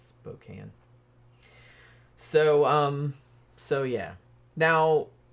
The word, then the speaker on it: Spokane: American um it looks like it should be Spokane but it's not it's Spokane so um so yeah now Melinda Mercer in